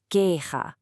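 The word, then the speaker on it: queja: First up, the word for complaint, Ga. That J sound. It's not like the J and jump. It comes from the back of your throat.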